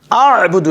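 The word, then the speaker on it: أعبد: আ'বুদু, এই যে আইন, এখানে আইনের গলার ভিতর থেকে আইন উচ্চারণ করতে হবে।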